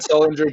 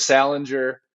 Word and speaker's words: Sullinger: Like he used to call Victor Oladipo Victor Opapipo. He used to call Jared Sullinger Jared Salinger.